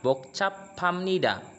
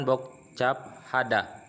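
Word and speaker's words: 복잡합니다: Makanya dibacanya bokcap pamnida kayak gitu, bukan bokcap hada, tapi bokcap pamnida.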